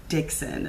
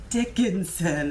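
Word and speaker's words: Dickson: creator of this deck his name is Michael Bridge Dixon not Michael Bridge Dickenson as I have been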